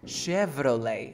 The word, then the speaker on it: Chevrolet: Ahora, esta che no va a ser che, va a ser como una S. Che. Chevrolet. Chevrolet. Ahora es una V. V, v. Chevrolet.